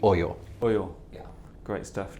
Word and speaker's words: OYO: yeah so we have we usually receive this pronunciation or sometimes people say Ohio but it's actually oil oh yeah yeah great